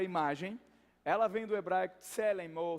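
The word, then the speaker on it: צלם: Então essa palavra imagem, ela vem do hebraico tselem ou selem, se escreve assim, T-S-E, mas não tem nada de votação.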